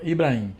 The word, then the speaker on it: Ibrahim: Não, Ibrahim. Às vezes eu falo Ibrahim, mas é só pra pessoa entender que tem um H ali depois do A. Senão me chama de Abrahim, Ibrahim, Efraim.